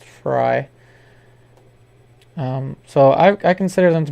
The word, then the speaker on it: Frey: Robin Fry, it's spelled Frey, but it's pronounced Fry.